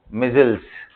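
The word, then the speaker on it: micelles: double L ई एस कैसे pronounce करेंगे इसको मजल्स मजल्स जैसे भी बोलो या तुम ठीक है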